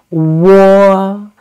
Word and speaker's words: wo: Wo. When pronouncing wo, we need to say wu first and then quickly glide to say o.